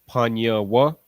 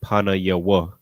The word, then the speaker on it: Panyawa: And then Panyawa. I remember earlier when you first saw it, you wanted to pronounce it Panayawa. All right. So I'm gonna just explain why that's incorrect.